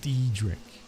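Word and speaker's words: Daedric: The correct pronunciation is Dedric.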